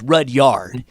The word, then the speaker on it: Rudyard: i say it right so i i said rudyard but it's red yard is how you pronounce it just like it's spelled all right